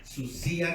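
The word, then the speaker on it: θυσία: Sacrificio dijimos que es del griego susía, así con la D, susía con acento en la I.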